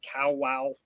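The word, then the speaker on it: Kawau: in Bon Accord Anchorage on cow wow is how I was told is pronounced cow wow Island in horaki Gulf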